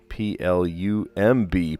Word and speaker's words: plumb: But we could use P-L-U-M-B, plum, with a silent B at the end. Plum like plumber.